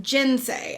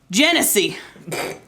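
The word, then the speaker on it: genasi: okay look here's tangent it's spelled janasi I've heard several people call it gensei I don't understand why they would be called gin say if it's spelled g-e-n-a-s-i Genesee genocide I am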